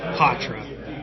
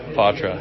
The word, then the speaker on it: Poitras: Matt Poitras. That is correct? Yeah, that's how it's pronounced, yeah.